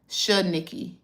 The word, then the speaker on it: Shanikky: Shanikky. It's just Nikki and then Shanikky.